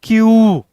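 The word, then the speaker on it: queue: क्यू सबसे ज्यादा silent इसी में है। क्यू यू ई यू ई। यहां पर ये चारों लेटर साइलेंट है। इसको नहीं पढ़ते हैं। सिर्फ क्यू को पढ़ते हैं।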